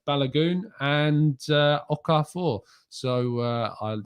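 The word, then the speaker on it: Balogun: please do tell me so it's balagoon and uh okafor so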